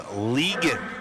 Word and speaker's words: Ligon: Oh, Jack's last name is pronounced Ligon.